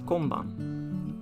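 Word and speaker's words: 今晩: as well it's written like this and it's pronounced as konban as you can see when it is used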